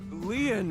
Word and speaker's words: Lien: I wanna stay by your side my name Lian is spelled l-i-e-n in French lien means Bond just